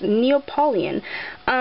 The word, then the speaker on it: Neapolitan: I have this Neapolitan, I never knew how to pronounce this, but it's Neapolitan.